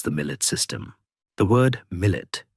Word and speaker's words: millet: The word millet pronounced millet is an Arabic term meaning nation or community.